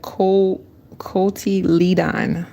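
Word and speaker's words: cotyledon: All right, let's try to get these the cult the coy leadon. That's how you pronounce it.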